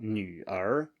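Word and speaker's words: 女儿: So 女儿, 女儿.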